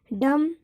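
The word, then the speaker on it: dumb: जैसे बनाना, जॉब, इन दोनों वर्डों में बी का उच्चारण हुआ है, लेकिन डम एंड कम इन दो वर्डों में बी का उच्चारण नहीं हुआ है, क्योंकि एम के बाद बी आया है।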